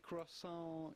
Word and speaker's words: croissant: The T at the end of croissant is definitely silent, so do not say croissant. Croissant. But rather croissant.